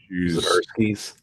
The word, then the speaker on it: Zdarsky: So like Zdarsky's, huh? Zdarsky, is that how you say it? Yeah, Chip Zdarsky's Daredevil.